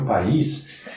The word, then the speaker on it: país: O Brasil é meu país. Vejam que aqui o I é forte, é vogal. País. Tanto que recebe até acento. Forma hiato com a vogal anterior.